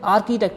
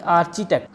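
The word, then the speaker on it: architect: इसका मतलब साइलेंट रहेगा इसलिए इसको हमने आर्किटेक्ट बोला ना कि आर्टिटेक्ट अगले एग्जांपल है और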